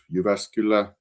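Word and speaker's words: Jyväskylä: I come from city of Uvascula and yes Maria you uh pronounce it uh perfectly Uvascula and I come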